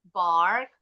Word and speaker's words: bark: Bark the dog. Not I break the Bacanya bark. Bark. Bark the dog. Bukan break.